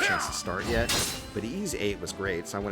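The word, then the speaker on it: Ys VIII: there you go ease eight the it's called ease eight lacrimosa of donna try to spell that part uh but a huge weird anime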